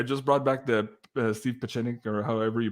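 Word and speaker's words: Pieczenik: Pachenik, I think is how you say it.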